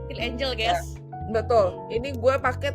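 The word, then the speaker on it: SKIN1004: Jadi untuk pagi gue pakai toner dulu, Centella Asia Skin 1004 ini loh. Ya, bacanya Skin Angel, guys.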